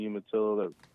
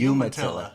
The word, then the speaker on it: Umatilla: The salmon also, again, it depends if you're on fishing the Umatilla or the Columbia.